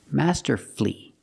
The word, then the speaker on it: masterfully: hopefully respectfully and successfully but with words like these masterfully beautifully and wonderfully you have two syllables before f u l l y but the stress is on the first syllable in this case the U is silent Master flee beautifully wonderfully we also practice with